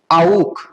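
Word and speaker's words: auch: आउक। क्या होगा? आउक। ठीक है, ए यू हम लोगों को पता है, ठीक है, आउ बनता है, और CH का प्रोनाउंसिएशन ख, सो क्या बना? आउक।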